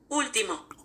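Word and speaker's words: último: Tim how you say it come on Google Ultimo Ultimo you guys got that to my beautiful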